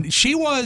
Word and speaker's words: McKean: Did I pronounce his last name? Yeah, Michael correctly? McKean.